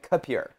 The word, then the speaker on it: K'Pure: So in my house, we've been calling it Capure. You can call it whatever you want. You're okay with that? Yeah. Okay, as long as we... Because phonetically, I guess with you, it is Capure, but it's K-Pure.